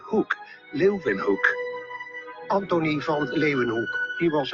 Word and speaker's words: Leeuwenhoek: L-E-Y, Leuven, se pronuncian con una B, Hoek, Leuwenhoek.